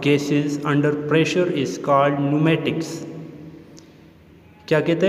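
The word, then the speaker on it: pneumatics: Student आपने इसको pronounce इस तरह करने कि पी को साइलेंट रखना है और इसको एन से स्टार्ट करने। न्यूमेटिक्स, नॉट पेन्यूमेटिक्स, इट इज़ the word न्यूमेटिक्स।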